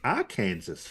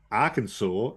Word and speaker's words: Arkansas: of it I mean they've got Kansas and then our Kansas right y yep or should you say Arkansas and can yeah believe